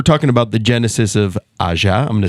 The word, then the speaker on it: Ajja: about the genesis of Ajja. I'm going to say it as many times as I can. It's still wrong. Ajja. Ajja. Ajja. Yeah, Ajja. It's not soft. It's hard.